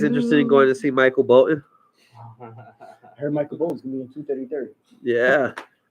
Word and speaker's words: Bolton: gonna put some Michael Bolton music it's Michael Bolton bolt did you're even saying it wrong both bolt like Bolt bolted yes that's pretty much how